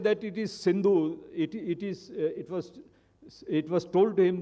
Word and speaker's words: Sindhu: And being an Iranian or a Unani, he could not pronounce Sindhu. He said it is Hindu.